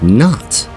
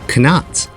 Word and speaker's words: knot: as no, knife, and not. Have you ever wondered why we have these KN words in English, where the K is silent?